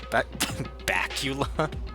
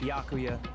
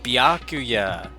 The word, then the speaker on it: Byakuya: Bakula. It's Bakuya. Yeah. Oh, Byakuya.